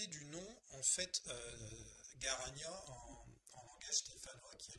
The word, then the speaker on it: Garagna: Et donc du coup, c'est Garania, c'est ça qu'on dit, que ça se prononce? Garagna, c'est ça, ouais.